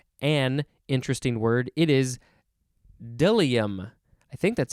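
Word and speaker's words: bdellium: interesting word it is deliam i think that's how it's pronounced but it is spelled b-d-e-l-i-u-m dilium sort of uh the b is silent uh this is a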